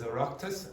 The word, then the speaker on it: Oireachtas: Now you won't know this, but the pronunciation of this is Oireachtas, and the Oireachtas is the Parliament buildings, okay, in Ireland, okay?